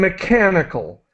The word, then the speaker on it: mechanical: Techniques, maintained, chemicals, and mechanical. So the CH is pronounced as a K sound. Chemicals and mechanical harvesters.